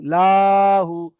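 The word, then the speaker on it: لَهُ: লাম জাবার লা, হা উল্টা পেশ হু, লাহু, লাহু। অনেকে উচ্চারণ করে থাকেন যে লাহু, লাহু, লা বলে টান করে ফেলছেন, তো এখানে লা একদম টান হবে না, লাহু, লাহু, এমন ভাবে বুঝেন, লাহু।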